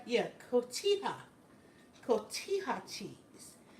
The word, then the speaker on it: cotija: Cojita cheese is pronounced cotija. Cotija cheese.